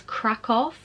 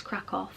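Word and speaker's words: Kraków: We're going to, I think you say it as Krakow, but I know some people pronounce it as Krakow, but I think it's Krakow.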